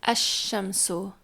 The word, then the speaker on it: الشمس: So if you put alif lam in front of, for example, the word shams, so it becomes ash-shamsu, and so you don't hear the alif lam there. It disappears.